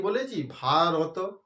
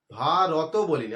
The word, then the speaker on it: ভারত: যখনই এর উচ্চারণটা অর্ধ হয়ে যাবে। অর্ধেক হয়ে যাবে। ত বললাম আমরা কি বলেছি? ভারত। ভারত বলিনি।